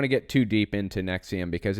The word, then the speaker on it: NXIVM: in 1998 Keith Rainier and Nancy salesmen founded nexium NX IBM is how it's spelled a personal development company offering executive success